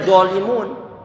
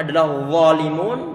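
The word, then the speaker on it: ظالمون: nggak dialirkan seharusnya bukan zalimun di satu sisi gak boleh mengucapkan yang benar adalah dzalimun ditempelkan ujung dari bagian atas keluarkan sedikit dan berikan ketebalan di sana yang diucapkan dengan model tebal dzolimul ini pun salah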